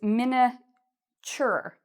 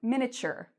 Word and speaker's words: miniature: And notice the pronunciation of the "tu" — it's: "miniature", "ch". It has a "ch" sound: "miniature".